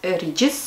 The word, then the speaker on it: Regis: Но правильнее все-таки называть Regis, если сравнивать с написанием и произношением улицы Regent Street.